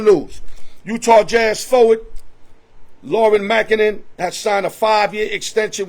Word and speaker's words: Markkanen: I know the Golden State Warriors, this is hurting them because they really wanted the services of Laurie Markkanen.